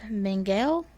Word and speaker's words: Mengele: yeah so yeah so he's based on joseph mengele and that's how you say it so he